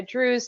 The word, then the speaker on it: Drewes: Yep, just Drewes, like rhymes with cruise.